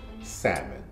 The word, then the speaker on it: salmon: to pronounce it is salmon sad that's two syllables sad I'm